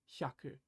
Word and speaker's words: 百: 100 shaku new word new Kani this is Haku it means 100 I'm going to do another